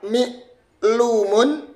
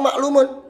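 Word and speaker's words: معلوم: Bisa dibaca mi'lumun, bisa dibaca ma'laumun, atau bisa dibaca maklumun. Nah, dengan belajar ilmu sharaf, kita akan tahu. Ternyata ini bacanya maklumun. Loh, kok tahu maklumun? Karena ini ikut wazan maf'ulun.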